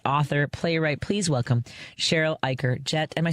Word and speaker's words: Eichar: Am I saying your Ikerd correctly? Is that right? Yes, you are. I I didn't even ask. the cheat the cheater you pronounce it it rhymes with biker.